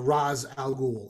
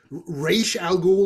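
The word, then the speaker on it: Ra's al Ghul: that's that's how he it was always Roz whenever we discussed it so whenever they pronounce it and then because they do Pete you're 100 right when it's race al Ghul or whatever that's technically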